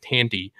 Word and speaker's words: Thandie: in York right cuz Thandie Newton Tandy I hate saying it like that but I think that's actually the way that it is pronounced Tandy Newton she she really steps